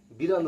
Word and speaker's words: বাড়ি: কিন্তু যখন বিড়াল উচ্চারণ করছি, দেখো বিড়াল, জিভটা কেমন গুটিয়ে চলে আসছে।